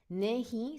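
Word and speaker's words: नहीं: Nahi, so it's very nasal. Nahi. And I know it's spelled Nahi, but if you imagine it as Nehin, Nahi.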